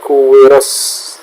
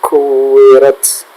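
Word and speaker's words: كُوِّرَتْ: Lalu untuk ta yang bersukun di akhir ayat, perhatikan di situ tidak sekadar ta, tapi ada sedikit s-nya. Sedikit ya, tidak lebih. Kuwirat. Nah, sedikit saja. Tidak kuwiras, tapi kuwirat. Ada ta dan s sedikit ya.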